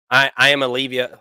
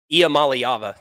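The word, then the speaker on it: Iamaleava: I don't think anybody at this point is ready to say that Nico, I am Olivia, whatever the hell his last name, Nico, Iamaliava.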